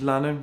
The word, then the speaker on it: Lannen: Good morning, my name is Richard Lannen, rhymes with Cannon.